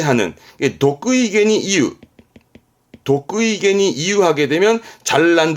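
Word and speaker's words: 得意: 그래서 발음이 독의.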